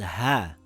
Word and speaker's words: ه: This letter is called ha. Ha is a light letter. Ha makes a similar sound in English to the letter H in the word hat or the word horse.